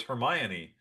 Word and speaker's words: Hermione: So I read them four books and called her Hermione because that's how it phonetically was spelled to me. So I just I would I for four books I was saying Hermione. So they get into the movie and of course she's called Hermione.